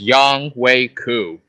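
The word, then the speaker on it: Younghoe Koo: a little bit crazy, but I'm going with Young-Hoo Koo. Tim? I guess I'd have to agree. Go with Young-Ho Koo. Yeah. And the way you pronounce his name is Young-Wei Koo.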